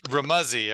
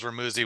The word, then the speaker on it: Remuzzi: Remuzzi, is that how you say your last name? It's Remuzzi. It rhymes with fuzzy, but everyone says Remuzzi when they look at it.